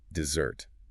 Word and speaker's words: dessert: The emphasis, the heavy stress is firmly on the second part. Dessert. You must be careful to hit that second syllable because there's another word